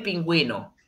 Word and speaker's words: pingüino: Entonces, la respuesta correcta de este animal es el pingüino, ¿ok? Recordemos que tiene su diéresis, entonces el masculino pingüino.